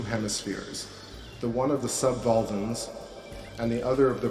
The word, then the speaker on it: subvolvan: the one of the subvolvans and the other of the prevolvans. This is spelled V-O-L-V-A-N, subvolvan, like Volvo.